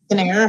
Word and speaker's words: Kinnair: Kinnair, hard C. Just like you have a hard G.